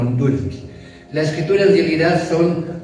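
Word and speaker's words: δύναμις: En el griego la palabra poder es eh se puede leer, se escribe como dunams o se pronuncia como dunamis.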